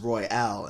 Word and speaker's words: Elijah Røyal: And then I looked it up and seen how it was pronounced, and then it's pronounced Røyal instead of Royal.